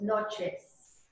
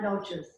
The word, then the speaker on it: noches: Remember the E's are long A's, so it's noches. It's not noches.